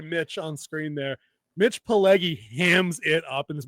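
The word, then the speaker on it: Pileggi: If y'all don't know Mitch, how do you say his last name? Paleggy. Pyg i l e gi. Paleggy.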